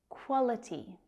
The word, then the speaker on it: quality: Quality. That QU can be a little tricky to pronounce. It's the consonants k, w together.